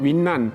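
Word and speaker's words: 云南: 서남쪽에 운남성 일하고 있습니다 우리말 온 남성이고 중국 발음으로 남아 윈난 이렇게 발음하는 것 같고 그 성도가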